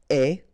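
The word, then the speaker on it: aie: And avoir will become est. Remember, the final E is not pronounced, so you only have this A-I sound.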